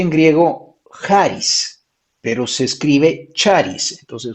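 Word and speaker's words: χάρις: como se escribe charis se pronuncia en griego jaris pero se escribe charis entonces ustedes tomen nota charis con che c h a r i s charis y en griego se pronuncia haris con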